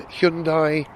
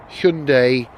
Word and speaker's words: Hyundai: While we're on the subject of Korea, parked right next to me, quite by coincidence, is a Hyundai, sorry, Hyundai.